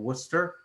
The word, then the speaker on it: Worcester: in the state, called Worcester. And you have to be from Worcester to know it's pronounced that way. It's one of those towns doesn't sound anything like the way it looks.